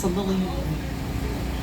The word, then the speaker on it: CeLillianne: poster out there so my name is pronounced so lillian i'm glad to be